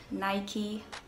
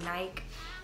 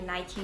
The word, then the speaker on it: Nike: yes it is pronounced nike all my life i would say nike and actually nike because nike was named after a greek goddess who is the goddess of victory um so if i